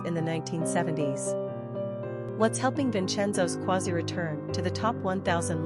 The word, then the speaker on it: Vincenzo: Pronunciation, Vincenzo.